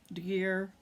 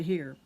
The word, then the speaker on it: De Gier: hipster and here mystery g in dutch is pronounced an h i learned so it's hipster into here but anyway they uh